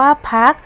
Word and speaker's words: พรรค: มาตรา กก ดัง นั้น เวลา เรา อ่าน ออก เสียง คำ ว่า พรรค เรา จึง อ่าน ออก เสียง ด้วย พยัญชนะ พ. พาน ประสม เสียง สระ อะ แล้ว ตาม ด้วย เสียง ตัว สะกด มาตรา กก ค่ะ มี คำ ที่ 6